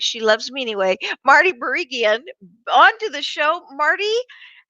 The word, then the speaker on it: Barigian: bring marty and i'm going to say her name wrong but she loves me anyway marty barigan on to the show marty how are you